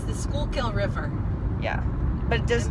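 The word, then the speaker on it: Schuylkill: actually see the river mom um it's the schoolkill river yeah but it just means full of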